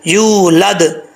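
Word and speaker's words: يولد: کو یولد نہیں پڑھنا، یا کے آگے واو ہے لمبا کر کے پڑھیں گے، یا پیش واو، یو، یولد.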